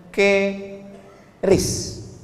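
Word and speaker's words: QRIS: mall ditulis ada namanya ke ris qis Kis. Cara bacanya gimana sebetulnya? Keris.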